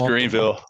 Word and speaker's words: Greenville: I've been to Greenville, as the locals say. Is that correct? Or something? It's Greenville. It's Greenville. Greenville.